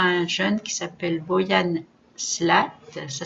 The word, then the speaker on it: Slat: Mais actuellement, de gigantesques travaux de nettoyage ont commencé au Japon, grâce entre autres à un jeune qui s'appelle Boyan Slat, ça s'écrit S-L-A-T, et son opération Ocean Clean Up, Océan Clean Up, que vous trouverez sur Internet.